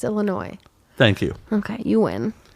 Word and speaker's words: Illinois: yeah Chicago Illinois Illinois the molasses is not pronounced then why is it there why isn't it yeah no okay fine it's Illinois thank you okay you win I do because